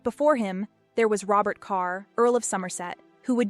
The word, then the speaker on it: Kerr: His parents were Scots, using the Scottish pronunciation of Kerr, but in the English royal court he was known as Robert Carr, and then was referenced